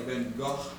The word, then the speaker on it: Van Gogh: This is Van Gogh, Vincent Van Gogh. Now, he was a Dutchman, so you could say the correct way of pronouncing his name would be more like Van Gogh.